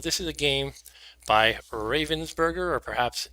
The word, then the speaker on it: Ravensburger: is a game by ravensberger or perhaps since it's German it will be pronounced Robin's burger Robin's burgator or something like that anyway um